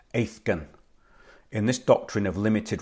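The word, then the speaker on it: aithgein: And Old Irish, it's actually pronounced Aithgan.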